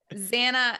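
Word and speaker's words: Zannah: Bane, Zanna, Hannah. It's just It's Zan. It's Hannah with a Z.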